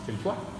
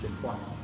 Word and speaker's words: Xelluas: ¿Se pronuncia Chelhua o Chelhua? Porque yo... Chelhua no suena la H como J, no. ¿Chelhua? Chelhua, casi, así. Chelhua.